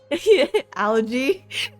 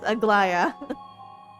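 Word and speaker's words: Aglaea: Algae? That spelling is pronounced algae. So yeah, technically, yeah, maybe it's algae. But it is Aglaya.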